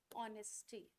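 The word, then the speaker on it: honesty: मैंने लिखा dash ऑनेस्टी। ठीक है? अब मैंने आपसे कहा डश ये लिखा ठीक है ऑनेस्टी में किसकी साउंड आ रही है ओ की एच क्या है साइलेंट है क्या है जब ओ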